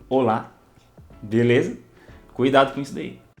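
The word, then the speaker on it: hola: ou lá ou lá não é rola e sim Olá beleza cuidado com isso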